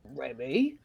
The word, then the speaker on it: Remy: Remy rhymes rhymes with Jimmy and Grum.